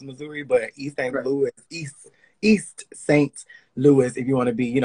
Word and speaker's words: East St. Louis: Louis, East St. Louis, if you want to be, say it correctly, is a place in Illinois.